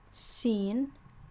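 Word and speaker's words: سين: zoo it's basically zed this one is seen you pronounce it uh as su like the s in english um like if you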